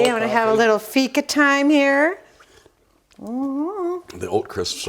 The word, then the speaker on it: fika: all about fika fika the swedish pronunciation is fika is a concept in